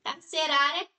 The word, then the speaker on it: carcerária: bom e tem um carcerária carcerária aqui podemos perceber que não é a última sílaba tônica é a penúltima Então essa palavra é